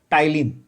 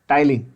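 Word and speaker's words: ptyalin: Salivary amylase is also called Tyline. P, the P is silent, of course. Tyline.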